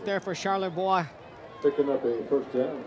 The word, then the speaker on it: Charlebois: It looks like Charlie. And looks like boy with an urban spelling, B-O-I-S. But the French pronunciation, and thank you for going and talking to the family. We appreciate them. Charlebois.